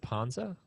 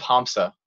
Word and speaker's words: Hamsa: your music - you said it's house of Ponza is that am I saying it right that's of hamsa yeah okay what's the spelling on that the